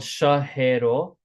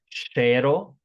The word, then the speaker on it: શહેરો: Again, this is spelled shahero, but it's pronounced shero.